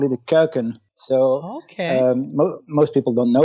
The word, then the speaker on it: Kuykens: start with already um most people struggle to pronounce my last name that's for sure and what it means curcums but in in dutch